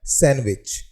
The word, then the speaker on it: sandwich: हमारा अगला जो वर्ड है वो काफी पॉपुलर वर्ड है, जो है सैंडविच, SANDWICH। यहाँ पर जो है वो D साइलेंट है, लेकिन जब हम इसे हिंदी में पढ़ते हैं तो हम इसे सैंडविच ही पढ़ते हैं।